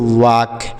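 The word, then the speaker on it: walk: डब्लू ए एल के तो इसे पढ़ेंगे वाक इसे आपको वाल्क नहीं पढ़ना है यहां पर जो ल है यह साइलेंट है इसे नहीं पढ़ा जाता इसे हम पढ़ेंगे वक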